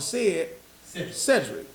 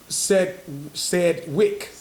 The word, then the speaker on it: Sedgwick: Just for motherfuckers that don't know, said they call it Cedric, but Sedgwick. Right. It's a G in there. It's a G in there. They like to say the G is silent, but the G's was there.